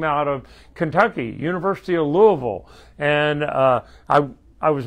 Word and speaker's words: Louisville: them louisville sluggers and some people that are really farther away from kentucky even call it lewisville but that because that's the way it's spelled but if you're from kentucky they say louisville and uh that's where